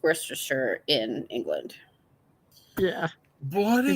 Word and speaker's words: Worcestershire: It's Worcestershire. It is pronounced Worcestershire in England.